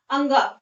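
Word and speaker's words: ङ: क ख ग घ अंगा, इसको क्या पढ़ते हैं? अंगा पढ़ते हैं, इसको अढ़ा नहीं पढ़ते हैं, ठीक है, इसको क्या पढ़ेंगे? अंगा।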